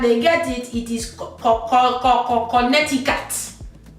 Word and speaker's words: Connecticut: that is not in the Nigerian's dictionary is Connecticut. Ask your parents if they are Nigerian to say this word, and it would produce error. But when they try it and they get it, it is Connecticut. Connecticut.